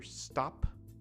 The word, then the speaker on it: stop: So the EN, the English, natural English sound for stop, stop, stop. Now listen very carefully. Stop. And in Japanese, if you're going to say this word, stop, stop, listen very, very carefully to the end of the word, and also watch my mouth very carefully. Stop, stop, stop, stop. So English, stop.